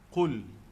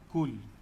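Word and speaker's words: قل: Qul. Qul ni huruf qaf mesti bunyi dalam. Tak boleh bunyi luar. Kul. Kul lain. Qul lain. Kaf dengan qaf, dia kena beza.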